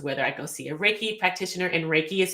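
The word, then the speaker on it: reiki: healing practices is whether I go see a raiki practitioner and raiki is spelled re e i Ki and raiki can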